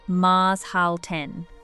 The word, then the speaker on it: Maßhalten: In Swiss culture, there is a concept called Maßhalten, pronounced Maßhalten. It translates roughly as keeping measure.